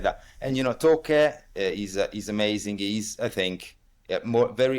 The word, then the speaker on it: Taake: I think it's Toke. It's written Taake, Take, Okay, yeah, Toke, Toke, I think.